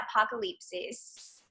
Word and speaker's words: Apocalipsis: And it's literally stuck in my head, Apocalipsis.